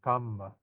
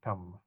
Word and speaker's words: kamma: Pali is spelled with a double M, kamma. Okay. The Sanskrit tends to be flowery, karma. Okay. So you hear the Indians, a lot of R sounds, right? So here, kamma. It's very easy to pronounce Pali in this sense.